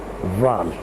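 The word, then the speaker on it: ⲂⲀⲖ: مثلا كلمة فال معناها عين وتتنطق فال.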